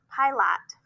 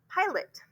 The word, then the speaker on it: pilot: Pilot. Huh? No, that's not it. Try it short, try it long, try it schwa. Borrow another vowel sound. Pilot.